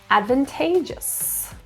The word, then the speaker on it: advantageous: Stress is in the third syllable, advantageous.